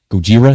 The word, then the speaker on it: Gojira: Deftones debut new lineup on first night of long-awaited tour with Gojira. Gojira, is that how you say it?